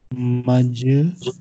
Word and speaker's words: Majrur: Any word which has kasra, it is called majrur.